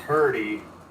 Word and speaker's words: Hirte: It's pronounced Hurty. Even then, we're not quite sure.